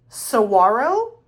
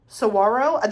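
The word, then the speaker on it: Saguaro: This is Sarro. Sawarro. They said don't pronounce the G. So I think it's S Sarro National Park.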